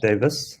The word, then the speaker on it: Davis: surname for him uh it's Davis so the E it's a common mistake um I've been called Davies my whole life but